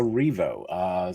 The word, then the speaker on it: Erivo: Is that how you pronounce her name? Is that correct? Yes. Cynthia Erivo, set to star in the upcoming movie Wicked, which will be in theaters in November.